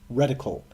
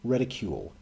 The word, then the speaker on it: reticle: this game taught me that it is apparently pronounced reticle my entire life I've been saying ridicule and that what you do to someone you